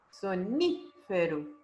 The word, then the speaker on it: sonífero: Qual a sílaba tônica? A última, a penúltima ou a antepenúltima? A antepenúltima. Ni, sonífero.